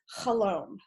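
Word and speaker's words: חלום: hebrew for dream is khalom rhymes with shalom and that is used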